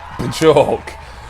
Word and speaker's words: Björk: A lot of people don't know how to pronounce her name. I do. Here on top of the pops, it's Bjork. Bjork, or Bjork, or Björk.